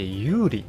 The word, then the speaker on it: 玉里: かうのは玉に里と書いて有利というエリアですね。